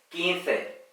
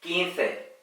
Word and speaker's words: quince: cuanto España y latinoamérica en España la z y la c delante de las vocales se pronuncian como si fuera una th del inglés 15 mientras que en México